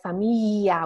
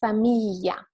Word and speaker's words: famiglia: Many Italians, they actually pronounce like famiglia with a long yeah, but it's not correct as a kind of a dialect, especially used in the south of Italy. So it's famiglia, and this sound is